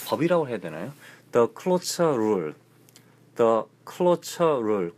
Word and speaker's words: cloture: The Cloture Rule. The Cloture Rule. Closure? 아니, Closure 해도 되고요. Cloture Rule.